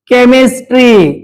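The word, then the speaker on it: chemistry: वापरले जातात एक्झाम्पल म्हणून एच आलेला आहे स्कूल केमिस्ट्री या ठिकाणी केमिस्ट्री वाचू नका ओके जर समजा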